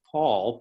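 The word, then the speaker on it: Paule: was pauline but she changed it to paul p-a-u-l-e for the silent e in order to honor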